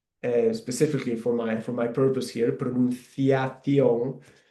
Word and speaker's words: pronunciación: for my purpose here, pronunciación. You can see there that the C sound when I pronounce it, it sounds a bit like the TH in English, like thunder.